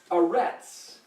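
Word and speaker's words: ארץ: Aretz is earth. Aleph, Resh, Zadi. Aretz. Now, we spell it, again, going from right to left, E-A-R, and then this is T-Z.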